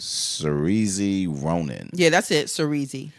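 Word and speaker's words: Saoirse: But, yeah, the main character, her name is, I don't even know how to say this, but it's Cerise Ronan.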